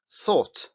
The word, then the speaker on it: thought: Qué palabra es es la palabra thought tres símbolos que son tres sonidos y sin embargo tenemos una una palabra de siete letras Entonces qué quiere decir que no tenemos que pronunciar todas no y por eso es